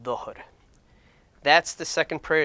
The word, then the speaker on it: Dhuhr: the day, is called Dhuhr. And you'll see it typically spelled with a DH. And that's basically to kind of give you the hint of how to pronounce it.